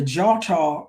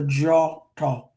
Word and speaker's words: Djôtô: So DI, DJ, or DW has that J sound. So the Djôtô, DJOTO.